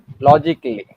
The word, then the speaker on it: logically: A silent when it becomes before LLY.